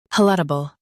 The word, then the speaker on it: palatable: Pal. T. Bull. Palatable. Stress pal and keep audible smooth.